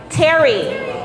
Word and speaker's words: Terri: Terri. It's spelled T-E-R-R-I, T-E-R-I, Y, but it all sounds the same, short for Teresa.